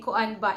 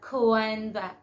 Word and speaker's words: kuan ba: back of your mind you can say koanba and if you are a foreigner and you would say kuan ba they would really be amazed because you really sound like a visaya native speaker pronounce it properly not coanda okay and then um